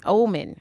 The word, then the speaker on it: Ohman: say your last name for me and ma'am omen okay i want to make sure i was